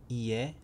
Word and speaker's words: 家: Ie, I-E, is a house. Ie.